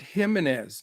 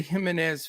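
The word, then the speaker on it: Jiménez: So, well, you have to pronounce it Jimenez, no J, Jimenez, because I like Mr.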